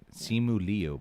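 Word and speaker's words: Simu Liu: make my life easier is how you say it simuli but i gotta slow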